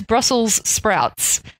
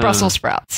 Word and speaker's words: Brussels sprouts: Brussels sprouts of course everyone does actually pronounce it incorrectly it is Brussels sprouts it's not Brussels sprouts I have actually heard